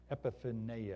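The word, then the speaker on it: ἐπιφάνεια: Epiphaneia or something like that is how we're going to pronounce this in the Greek.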